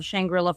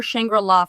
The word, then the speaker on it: Shangri-La: you would absolutely love shangrilla Frontier uh or shangrilla Frontier I've heard it pronounced both ways I always read that word is shangra La um but what it